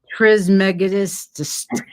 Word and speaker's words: Trismegistus: Trismegistus. Just the way it's written.